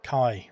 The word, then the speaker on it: Kai: Key as in I. Kai, there we go.